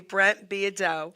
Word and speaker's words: Beaudeaux: to introduce my really cool guest Brent be Brent beo okay I wanted to say his name perfectly Brent beo okay he is a singer songwriter classic country